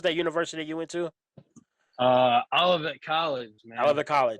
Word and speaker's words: Olivet College: I can never pronounce it, man. What was that university you went to? Olivet College, man.